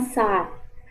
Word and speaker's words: saat: Nah, jika teman-teman ingin menyebutkan kata jam, jam itu bahasa Turkinya saat. Saat. Ya, jadi bukan sat dibacanya, tapi agak dipanjangkan saat.